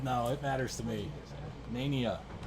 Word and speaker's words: Nania: Nania is the proper pronunciation.